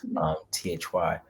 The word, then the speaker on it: Thy: Literally, that's how you pronounce her name, Thy.